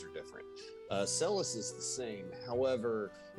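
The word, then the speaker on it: Celes: in the middle is Celis. I always called her Seals growing up, but Celis, did you always call her Celis, Ben?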